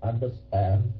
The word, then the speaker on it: understand: I understand that. Okay, understand. Nhấn cái âm thứ ba, stretch on the last one. Last syllable, I mean.